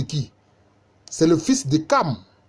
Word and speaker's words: Cham: C'est le fils de Cam. Mais ça s'écrit Cham, mais c'est le fils de Cam, ça s'écrit Cam.